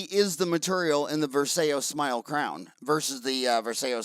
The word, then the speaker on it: Varseo: And you're calling it the Varseo Smile Crown and the Varseo Smile Temp? Right. Did I pronounce it right?